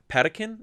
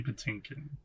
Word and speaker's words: Patinkin: and the other thing is like manny uh patakin is that how you pronounce this mandy patinkin patinkin he also sells that role like a